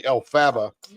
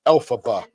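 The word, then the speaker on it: Elphaba: how you say it I always say Alaba but apparently it's alphaba or something like that well that's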